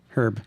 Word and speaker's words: Hryb: How did we pronounce that anyway? Herb. Herb.